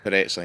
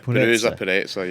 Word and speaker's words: Purezza: Purezza, yeah. Purezza, yeah.